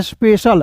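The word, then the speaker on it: special: तो देखिए पढ़ेंगे दोस्तों स्पेशल तो यहां देखिए सी आई एल रहेगा किसी वर्ष के अंतिम में तो उसे दोस्तों श के रूप में पढ़ेंगे।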